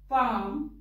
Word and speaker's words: palm: Next is L. Palm, come. L hai, par sound nahi dete. Ki bolenge? Palm, come. Chalk, talk, walk. Fork, yoke, and half. In all these words, the L is silent.